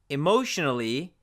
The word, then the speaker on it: emotionally: but pay attention here emotionally ends with an N so we do pronounce the a as a schwa a more emotionally emotionally so just pay attention